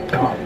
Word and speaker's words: Gonk: Gonk droid. Donk droid. Gonk droid. No, it's a donk. The donk. It's a donk. Gonk. Donk. Gonk. Donk. Gonk. Donk, bitch! It's pronounced gonk.